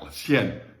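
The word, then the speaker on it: cien: 100. So it's like the word yen, like the Japanese money yen, with an S sound in front of it, which of course it's spelled with a C.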